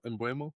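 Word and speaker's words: Mbeumo: Bueno. I'm gonna say his name Brian wrong again. Mbuemo.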